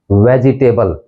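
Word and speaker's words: vegetable: है वेजिटेबल वेजिटेबल वेजिटेबल यानी यह थ्री सिलेबल वर्ड है वेज टबल वेजटेबल वेजिटेबल अगला वर्ड देखिए दसवा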